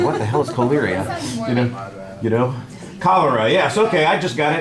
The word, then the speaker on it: cholera: Choleria is not the way it's said. Cholera is the word.